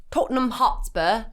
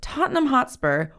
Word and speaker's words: Tottenham Hotspur: M would you like to try British accent Tottenham Hotspur that was good okay great which plays out